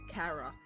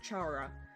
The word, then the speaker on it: Chara: This human is commonly referred to as carara or charara, but I'll be using the pronunciation car since it resembles the word character.